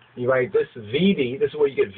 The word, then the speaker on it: vidi: You write this VIDI, this is where you get video from, VIDI, or WIDI, really WIDI would actually be WIDI, long I or E sound, and then the VICI,